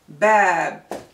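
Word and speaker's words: باب: cannot pronounce this so whenever we have fata followed by alif we have the long sound ah like father let's check the word bad which means door so fatah is the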